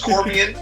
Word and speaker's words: Corbian: It's Corbian. I keep saying Corbine, but it's Corbian.